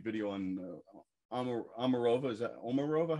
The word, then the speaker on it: Omarova: did a great video on omarova is that omarova how do you pronounce it yeah stala omarova some people said